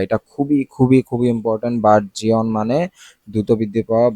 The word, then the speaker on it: burgeon: Normally তো বার্জিয়নই লাগতেছে। বার্জন, বার্জন, জিয়ন বলতেছি কিন্তু এটা কি বার্জন, বার্জন, বার্জন।